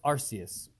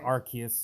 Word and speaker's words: Arceus: It's Arceus. Okay. Or Arceus, or however you want to pronounce it.